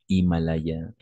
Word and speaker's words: Himalaya: on va prononcer et Himalaya on peut prononcer hors de sujets par exemple or toujours le H est muet on ne prononce pas le H voilà mais attention